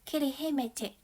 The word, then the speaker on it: Kirihimete: 语中，圣诞节读作 Kirihimeite。